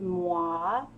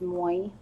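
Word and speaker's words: moi: our Tuesday afternoon with muah walkie I used to drink it one over I used to think I was pronounced Moy because it's spelled mo I feels like I'm gonna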